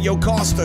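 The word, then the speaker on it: Jocasta: none other and that yoke Oscar whose name rhymes with pasta Perry and her and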